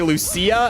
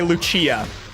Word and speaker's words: Lucia: I thought that people were saying that it can be pronounced either way, depending on just who the person is. It wouldn't be confusing if they didn't use both pronunciations in this game when referring to her. Because they genuinely do that. Some characters say Lucia and some say Lucia.